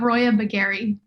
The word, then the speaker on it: Roya Baghen: i don't do a faux pas it's a roya bagari okay well that's what i was gonna say